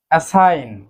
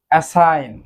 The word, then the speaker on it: assign: অ্যাসাইন অর্থাৎ বরাদ্দ করা কিংবা নিয়োগ করা। অ্যাসাইন এখানেও কিন্তু জি এর উচ্চারণ হচ্ছে না, অর্থাৎ জি উচ্চারণটি সাইলেন্ট থাকছে।